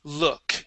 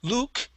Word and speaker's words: look: okay very good and last word here is the word look instead of L Luke it is look look okay very good nice